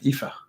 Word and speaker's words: Aoife: So it's Aoife, I believe.